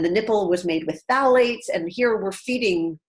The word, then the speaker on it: phthalates: next chemical is called phthalates and it's spelled p-h-t-h-a-l-a-t-e-s it's the one you don't want to get on a spelling bee phthalates that starts with a p but you don't